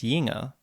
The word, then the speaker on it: jünger: Und wenn du Kinder bist, 4 Jahre jünger ist doch, das ist ein ganz anderes. Ja. Notice how jünger becomes jinger.